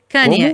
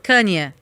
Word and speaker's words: Kanye: Como é que se pronuncia o nome dele? Você vai perguntar pra mim? Tá, ok. Kanye. Isso, Kanye.